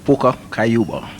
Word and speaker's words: Pucka Kayuba: How you pronounce that name now? Pucka Kayuba.